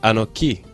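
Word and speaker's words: אנכי: We find the letters Aleph, Nun, Kaf, which are pronounced Anoki, and also mean I am.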